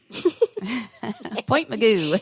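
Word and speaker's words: Point Mugu: out in point Meo Point Meo you gotta say it like that too even when you're writing it meoo and that's an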